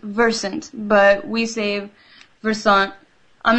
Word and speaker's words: Versant: pronounce yourself oh it's technically if you it's pronounced Versant but we save version I'm not gonna lie